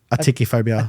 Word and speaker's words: atychiphobia: How do you pronounce the word? Atychiphobia.